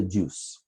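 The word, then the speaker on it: juz: day it's called The Juice yeah it's spelled juu Z but it's called a juice you know so the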